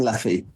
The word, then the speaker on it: Laffy: Hopefully, I pronounced Simon's last name properly, Simon Lafy. Is that correct, Paul? That's right. Yeah, Simon Laffy.